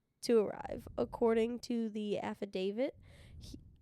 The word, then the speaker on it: affidavit: birth him um I don't know this word affidavit okay is that correct yes that is is